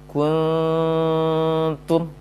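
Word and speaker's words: كنتم: Jadi tidak diayunkan dan juga tidak dimonyongkan bibirnya ketika dengung. Bacanya kuntum. Selesai dengung ta yang 2 harokat, baru dimonyongkan bibirnya hendak mengucapkan huruf ta yang dhammah.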